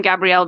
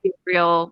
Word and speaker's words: Gabriel: So when his brother talks to him, he calls him Gabriel because that's how you would pronounce it in French. Right. But it's Gabriel when for English speakers, Right. native English speakers.